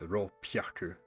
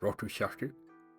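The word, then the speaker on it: roppyaku: Technically, they should be pronounced as roku hyaku to make the word 600. However, the word 600 is actually pronounced as ro pyaku, as roku hyaku would perhaps be more awkward to say when speaking.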